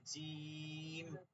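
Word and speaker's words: جيم: যে নাম আছে না, জিম, তিনটা হরফ, জিম, ইয়া, মিম, এটা হচ্ছে এটার নাম, কিন্তু প্রথম উচ্চারণটা হচ্ছে এই হরফ, জি, জি, জি, জিহ্বার মধ্যখানটা উপরে উঠে যায়, জি, জিম, জি।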